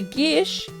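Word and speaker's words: geas: to invoke both a Gish which is like a magically binding Quest it's it's spelled gas it's pronounced Gish it's a Celtic word and it allows you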